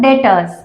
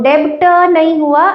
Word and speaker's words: debtor: Those customers are your dattors. It is B E B T O R S but B is silent. So debtor it is known as dattor.